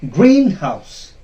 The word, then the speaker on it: greenhouse: Then we have another compound noun, greenhouse. Greenhouse. It will not be pronounced as greenhouse. That is wrong. Greenhouse. Greenhouse. The first syllable, the first part of the compound word will be stressed.